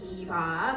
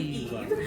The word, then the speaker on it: EVE: Yeah, he can't really say her name right, so he goes Eva. Her name is actually Eve.